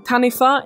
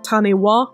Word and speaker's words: Taniwha: about the Maori language wh is pronounced like an F in Maori which is why I'm saying tanifa instead of taniwa which I said last